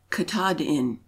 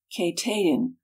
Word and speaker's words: Katahdin: The Penobscot Indians pronounce it Katahdin, a short. The Passamaquoddies, Katahdin, a long.